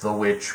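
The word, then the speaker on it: The VVitch: good fun got the vich i know it's technically pronounced the witch but i'm i'm calling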